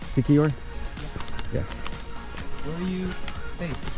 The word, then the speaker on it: Siquijor: Siquijor?